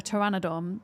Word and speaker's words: pteranodon: Every time I tame one of these, I call it Peterry because it's a silent P, isn't it? It's called a pteranodon, but it's spelled with a P.